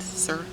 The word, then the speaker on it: Serhant: moon and back for you by emily Serhant sir really that's how you say her name and